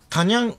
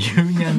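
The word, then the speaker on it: 夕ニャン: ユーニャンだよ。ユーをタと読むな。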